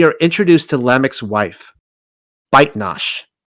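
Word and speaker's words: Bat-Enosh: Within Tales of the Patriarchs, we are introduced to Lamech's wife, Baitnash. A far more reliable pronunciation is Bat Enosh, but the version I am delivering only calls her Baitnash.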